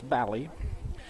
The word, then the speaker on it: Bally: I keep wanting to say Bally, but it's Bally. Rhyming with Valley.